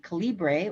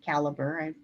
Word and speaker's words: calibre: And once that's done, I use another free program called Calibre or Caliber, one way or the other you publish it. It's actually a library program for books. It's another free program. And with Calibre, that's my pronunciation, I